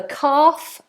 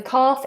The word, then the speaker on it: calf: the hamstring or the calf the calf is the muscle in the lower leg that L is silent cal cal so we